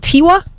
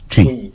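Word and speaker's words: Twi: What did you say? It's spelled T-W-A. No. T-W-A is T-W-I. Tweet. It's T-W-I. Oh. Okay, so they messed it up. So it's tree. Tree. You can't tweet.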